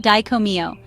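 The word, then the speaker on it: Dai Ko Myo: The powerful Raiki master symbol is pronounced diccomio, which translates to great bright light or great shining light.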